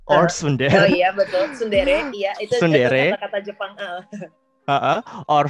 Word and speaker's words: Tsundere: Oh iya betul, Tsundere.